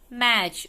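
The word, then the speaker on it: match: सी एच टी सी एच की sound both की same है। टी साइलेंट है इसलिए हमारे यहाँ पे छ।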